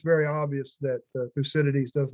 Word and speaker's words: Thucydides: researchers able to discern fukudaities butchered that name yeah thucydides yes um discern his biases